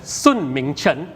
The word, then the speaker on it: Sun Mingchen: Sun Mingchen, okay? Not Sun Su, not Sun, but Sun Mingchen, right?